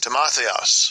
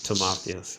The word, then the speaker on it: Timotheus: Timotheus. Timotheus. All right, so that's how you pronounce it correctly.